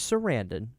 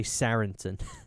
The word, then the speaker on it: Sarandon: and and chris uh i always say his name wrong chris sarandon i used to say saranson and i think people